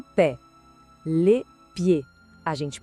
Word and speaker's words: pied: Le pied. A gente pronuncia le pied. O D no final é mudo também. É um som bem limpo, bem direto. Le pied.